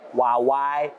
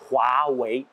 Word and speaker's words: Huawei: Le H se prononce comme un R français. H-U-A se prononce comme roi, le passé simple du verbe rouer. Vous voyez, il roi. W-E-I se prononce comme ouais, le oui familier. Donc, ce n'est pas Huawei, Huawei, c'est Huawei.